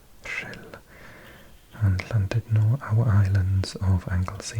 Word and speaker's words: Rhyl: You can see Rhyl. Yes, I did pronounce that correctly. Rhyl.